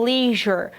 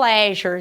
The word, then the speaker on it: leisure: 1, Places, Likes and Leisure, ou Leisure. Então, as duas pronúncias são possíveis para a palavra lazer. Então, podemos falar leisure or leisure, ok?